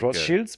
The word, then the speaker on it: Rothschild: It's German. It is going to be pronounced Rothschilds because it means red shield.